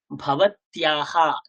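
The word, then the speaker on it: भवत्याः: দেখুন কি লেখা আছে, ভবত্যাহা, তৈজফলা আকার, উচ্চারণটা কি হয় ভবত্যাহা। ওই দেখুন আকারের পাশে বিসর্গ থাকলে উচ্চারণ শিখেছিলাম, লতাহা, গীতাহা, ধীতাহা, সীতাহা। সিমিলারলি ভবত্যাহা, ভবত্যাহা, ভবত্যাহা, ভবত্যাহা নাম কিম, আপনার নাম কি।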